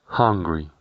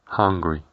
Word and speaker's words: hungry: Antes de continuar, es importante que no confundamos la pronunciación de la palabra Hungary, Hungría, con la pronunciación de la palabra hungry, hungry, que significa hambriento, siendo la clave para no